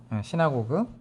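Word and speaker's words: synagogue: 시나고그. 자, 시나고그라고 발음하죠.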